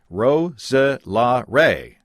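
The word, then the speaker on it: Roeselare: This word has got 4 syllables. Roselare.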